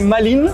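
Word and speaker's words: Malines: ici c'est en francophone c'est maline et en erlandophone ouais c'est ça en français c'est maline et en erlandophone en flamand c'est Melen moi je voulais le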